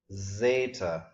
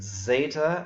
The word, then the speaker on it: zeta: I will be happy if you just pronounce it as our Z, zeta, z.